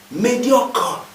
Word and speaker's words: médiocre: Vous voyez que je dis médiocre. J'avale le E. Ça, c'est à cause de l'autorité morale de l'orthophonie. Tous les E muets sont avalés dans un mot. Médiocre. Et le R est roulé. Médiocre. Le premier E porte un accent et on dit médiocre.